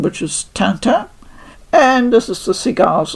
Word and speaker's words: Tintin: I know in English a lot of people call it TinTin, the series, the books and etc. But being brought up in Germany, I'm used to the French pronunciation, the original one, which is TinTin.